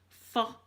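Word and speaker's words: pho: i want to try vietnamese for is called fur and it's pronounced p-h-o and they call it and it's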